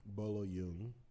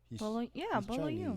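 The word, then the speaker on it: Bolo Yeung: antagonist of the movie, Bolo Yoon. Mm-hmm. Is that how you pronounce it? Bolo Yoon, you think? Bolo Yoon. Chinese. Bolo Yoon. I don't want you to pronounce it like Korean.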